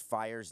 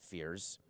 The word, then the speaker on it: Fiers: He said that Mike Fiers, I think it's E-I-R-S or I-E-R-S, and I think it's pronounced Fiers, not Fears.